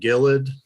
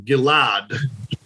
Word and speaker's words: Gilad: So Yeah, I've always called him Gillard. But yeah, I think they over exaggerated in the movie. Yeah. I'm going to take the pronunciation in the movie as the correct one because Dinesh was the one that, oversaw this project. Mm-hmm. So I guess we need to call him Gilad.